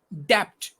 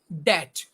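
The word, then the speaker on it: debt: ear another word is d e b t we pronounce is depth but sorry to say it's that so these are the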